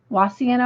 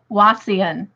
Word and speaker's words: Wauseon: And Jen says, oh, I don't want to mispronounce yours, Jen. Wassian? Wauseon, Ohio?